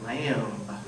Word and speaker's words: lamb: Oh shepherd, go find your lamb." All right? Make sure to pronounce the B at the end.